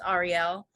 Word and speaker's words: Ahriel: I love my name, I always loved how it was supposed to be pronounced, which is Ahriel. But whenever anyone sees my name written as it is, it was always, Ariel, like the Little Mermaid.